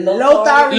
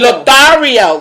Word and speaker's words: Lothario: Is it Lothario? Lothario, because it's Lothario.